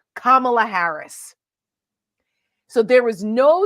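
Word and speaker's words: Kamala: firm handshake and she introduced herself and said kamla Harris so there was no excuse for him if he was gonna mispronounce her name right and it was it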